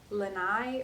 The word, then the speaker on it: Laine: I kept calling this Laine magazine, but it's called like Laine or Laine. It's like a girl's name.